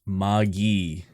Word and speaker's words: Magi: in your fans much it is a hard g and a short eye what it's pronounced maggie okay is that specifically